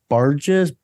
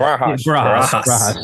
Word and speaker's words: Barajas: And then they added Diego Barges. I don't know how to say it. Barajas. Yes.